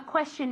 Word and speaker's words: question: Okay, remember that the pronunciation of question is as if it had, como si tuviera SH realmente.